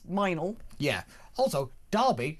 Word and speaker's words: Mildenhall: There's a place in Wiltshire called like Mildenhall, but that's Minal.